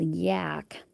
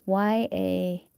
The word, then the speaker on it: Yahk: But there was this little town right past the Canadian border called Yak, but it was YAKH or YAHK, one of those. But you clearly pronounced it Yak from looking at it.